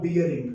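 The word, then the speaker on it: bearing: Common language में ना आप इसको बॉल बेरिंग, आप इसको बैरिंग बैरिंग बोलते रहते हो, वो आपका मतलब मिस प्रोनाउंसिएशन है। इट is ball बियरिंग नॉट बैरिंग, ठीक है।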